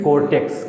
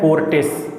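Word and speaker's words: Cortes: Spain की जो संसद है, स्पेन में कोर्टेक्स, क्या होता है? कोर्टेस। स्पेन में कोर्टेस। आपको प्रोनाउंसिएशन ऐसे करना है, उसी से आपको याद हो जाएगा।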